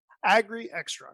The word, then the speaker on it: Agrixtra: do you say that agree extra is what we can actually oh you're doing it okay extra okay emphasize on the x as an angry extra